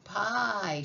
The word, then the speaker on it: pie: I, pie. She says her name. And the I and the E is silent.